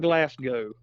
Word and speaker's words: Glasgow: what, yeah, over in Glasgow, Kentucky. Yeah. I think that's how you say it. Yep. That is.